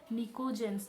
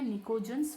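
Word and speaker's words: pnictogens: पी यहाँ पर क्या होगा? साइलेंट होगा। चाहे तो आप इसे नोट डाउन कर लें, इसे हम कहते हैं निकोजेंस फैमिली।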